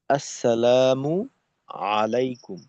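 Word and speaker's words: السلام عليكم: এই এই হলো আমাদের সালাম আস তো এখানে এই সিনটা স্পষ্ট রাখা মিমের পেশ তো দেখা যায় যে আমরা হামজা উচ্চারণ করি না অনেক সময় আসসালামু আলাইকুম।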